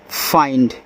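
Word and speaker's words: find: आइंड तो एफ लग जाएगा तो फाइंड।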